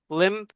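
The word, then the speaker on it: Lympne: I believe it's called Limp Castle. Lim Castle. Yeah, I think they they pronounce it like Lim Limb.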